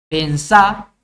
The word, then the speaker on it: pensá: Pensá es un verbo que es palabra aguda y termina en vocal, por eso lleva tilde. Decime es una palabra llana que termina en vocal, por eso no lleva.